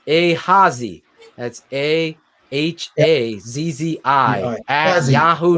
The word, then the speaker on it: Ahazzi: Just phonetically, it's Hazi.